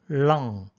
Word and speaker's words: lung: 우리가 많이 쓰는 단어 폐암, lung, L 발음이죠. cancer, 앞에 액센트가 있습니다. cancer, 뒤가 낮아지죠. 그런데 종종 cancer 하고 들리는 경우가 있습니다. 그것도 LUNG보다 RUNG에 가까운 발음으로 lung cancer 하면은 좀 어색하죠. lung cancer가 적절할 것 같습니다.